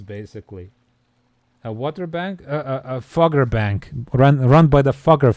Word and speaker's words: Fugger: A Fugger bank. Run by the Fugger family. Fugger. The Fuggers. Probably not pronounced like that, because it's German, but it's funnier to say Fugger.